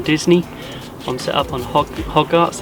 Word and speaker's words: Hodgett's: i'm set up on hog arts the lake i think you pronounce it it's the newest lake